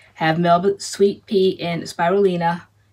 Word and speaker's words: Spirulina: And starting with this one, we have Melba Sweet Pea and Spirulina. I checked the pronunciation before we got on. Okay. So it's Spirulina.